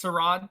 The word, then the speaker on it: Strahd: Oh no, it's Strahd.